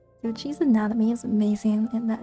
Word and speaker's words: Yocci: I've been saying her name wrong for like weeks. It's Yocci, not Yossi. Yocci's anatomy is amazing, and that is helping me so much with the sketch.